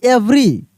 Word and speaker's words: every: EVERY, इवरी नहीं एवरी, ध्यान दीजिएगा, इसको हम लोग एवरी पढ़ेंगे, इवरी नहीं पढ़ना है।